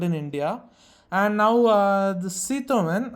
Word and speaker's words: Citroën: And now the Citroën, as it's pronounced in French, has conducted their India drive of their first car that they're going to be launching in India.